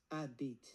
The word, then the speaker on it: habite: Premièrement, habite, ça se prononce habite sans le H.